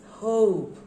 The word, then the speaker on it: hope: aot not rod your but when you put an e at the end of the word the sound it sounds different the pronunciation will be completely different it will be hope okay now in every